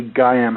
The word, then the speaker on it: Gaiam: But so that would be Gayam. How would you spell that?